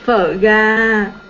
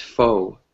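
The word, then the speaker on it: phở gà: Phở ga. Phở ga. Right? Pho Yes, ga. phở ga. Uh-huh. I had a very difficult time pronouncing the word because I thought it was pronounced pho.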